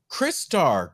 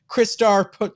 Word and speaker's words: Crystar: Crystar, Crystal Warrior. Oh, okay. I always pronounce it Crystar.